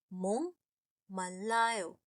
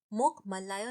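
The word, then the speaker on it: 목말라요: इसे मोक मल्लायो नहीं बोलते हैं, इसे बोलते हैं मोंगमल्लायो। बेसिकली का साउंड एनजी अंग का साउंड बन जाता है।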